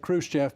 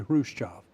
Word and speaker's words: Khrushchev: And they sent pronunciation Khrushchev. Everybody said Khrushchev, but it was actually Khrushchev.